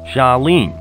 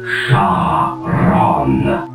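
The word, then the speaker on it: Charon: now you say it shene no you idiot my name is Shon it's spelled c h a r o n got that now you say it shwin you've got it all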